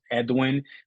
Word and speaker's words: Eduin: handle I should say is Edwin but now it's spelled edu n guys and GS it's not edw I'm I'm unique maybe